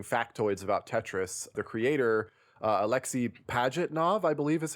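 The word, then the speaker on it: Alexey Pajitnov: are talking interesting factoids about Tetris, the creator, Alexei Pajitnov, I believe is how you say his name,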